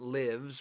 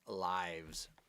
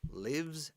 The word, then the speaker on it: lives: lives all right Google the plural life is lives with a V right okay so don't forget that lives pronunciation it's not lives which is the verb